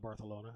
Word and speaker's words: Barcelona: in Spain I love Barcelona that's how they pronounce it they call it barcalona and that's how I